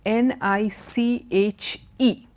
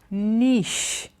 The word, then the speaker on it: niche: now the next word n IC h e in french it is pronounced nish but in many English